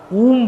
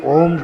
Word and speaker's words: ओम: है, ये तो उम बनता है, ऊम बनता है, ओम नहीं बनता है। जैसे आपने ऊ लिखा, छोटा ऊ लगा तो ऊ बना, और बड़े ऊ लगा करके बिंदी लगा तो ऊम बनेगा, वो उच्चारण ही नहीं हो रहा है इसका। वास्तविक रूप से जो संस्कृत में सभी दर्शनकारों ने ओकारम बिंदु संयुक्तम, ये शब्द जो है ये ओम वास्तविक वही है जो प्रचलन से बाहर हो गया।